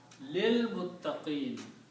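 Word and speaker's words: لِلْمُتَّقِينَ: And when you recite, you do not recite this alif in between, you combine this lam with this lam and pronounce lil, which is the word in the Quran, lil muttaqin, for those who fear.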